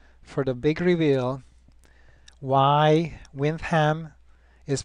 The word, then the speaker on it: Windham: now stay tuned for the big reveal why winds hem is pronounced as such and not win them you